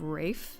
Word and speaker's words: Ralph: go to jail huh ralph finds pronounce his name rafe that's interesting they're rainbow